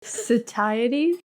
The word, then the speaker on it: satiety: Satiety. Press the button. Do the pronunciation in the robot voice.